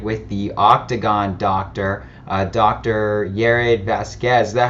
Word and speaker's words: Yared Vazquez: Yared Vazquez. Is that how you pronounce it?